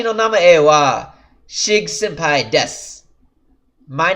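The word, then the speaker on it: です: is the word desk sue so it's written death sue but it's pronounced deaths watashi no nami AOR shig senpai desu my name is sig sampai but I said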